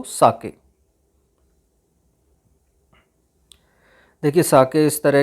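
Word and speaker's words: 酒: इसको प्रोनाउंसिएशन साके होता है। साइज प्रोनाउंस्ड लाइक फा इन द फादर एंड के राइम्स विद वे, तो साके।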